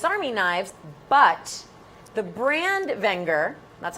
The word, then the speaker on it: Wenger: together as Swiss Army knives but the brand Wenger that's how it's pronounced as I learned last night from Wy